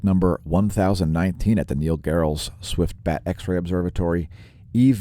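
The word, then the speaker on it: Gehrels: head to the neil gerald's i i believe it's pronounced geralt's but anyway the neil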